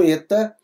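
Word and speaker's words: ἦτα: e aberto em Fé o nosso eta ele é um e mais fechado em Benigno tá bom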